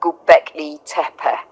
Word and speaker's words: Göbekli Tepe: It's pronounced roughly like Göbekli Tepe, and it's truly one of the most astonishing discoveries in modern archaeology.